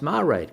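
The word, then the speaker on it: Máiréad: Our Marade is pronounced Marade.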